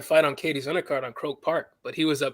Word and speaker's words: Croke Park: They say David wanted to fight on Katie's undercard on Croke Park, but he was pronouncing the venue wrong. Ooh, David Benavidez? Yeah, he's pronouncing the venue wrong. Coke Park.